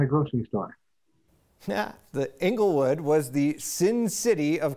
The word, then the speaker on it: Englewood: what do you say inglewood is long e it's not englewood it's not anglewood it's inglewood the father